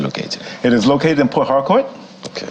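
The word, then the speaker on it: Port Harcourt: it is located in Port hardcour okay I'm trying to get good on my pronunciation because I understand I put a bit more emphasis on the r than most do here sport hard court uh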